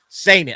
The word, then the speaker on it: Seinen: Sorry, Seinen.